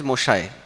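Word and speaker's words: মশাই: It's a mahashai. Bengali pronunciation is moshai.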